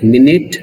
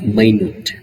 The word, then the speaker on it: minute: the word minute, so we can pronounce the word minute in two ways. One is minute, another one is minute. Here minute means a tiny or small. Minute means a unit of time.